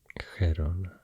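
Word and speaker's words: Gerona: name and um uh this province here is hirona in catalon and Heron castian not a huge difference oop sorry and uh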